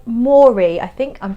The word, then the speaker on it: Moerie: A company called Moerie, I think I'm pronouncing that correctly. It's M-O-E-R-I-E, Moerie.